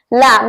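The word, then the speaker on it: lamb: उसे बोलते हैं लम लम यहां पर ध्यान रखना है बी साइलेंट है सो लम बोलना है बी को साइलेंट रखना है नेक्स्ट है समम सैम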